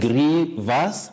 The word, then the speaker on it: grievous: Grievous, not grievous.